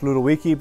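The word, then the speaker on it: Ludowici: One of them is Ludowiki. It's pronounced Ludowiki, but it's spelled L-U-D.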